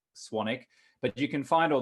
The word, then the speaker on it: Swanwick: name is spelled s-w-a-n-w-i-c-e-k it's spelled swan wick even though it's pronounced sonic but you can find